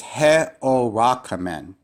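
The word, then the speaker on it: ἑωράκαμεν: This is he-o-rakamen. He-o-rakamen. So this syllabification has 5 syllables, 5 vowels.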